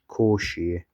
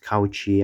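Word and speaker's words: Cauchy: called residue theorem made by a guy called Koshi. Some important blog I said bloke in 2025 from top screen. It's not pronounced couchi. I I used to say couchi but it's actually koshi.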